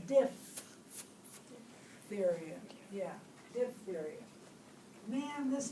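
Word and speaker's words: diphtheria: the spell it right everybody says dip theod but it's diff theod yeah diff theod man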